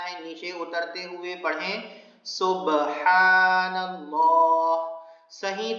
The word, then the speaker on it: سبحان اللہ: نیچے اترتے ہوئے پڑھیں سبحان اللہ، صحیح تلفظ کے ساتھ۔ سبحان نہیں کہنا ہے، سبحان